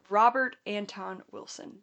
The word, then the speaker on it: Robert Anton Wilson: Robert Anton Wilson.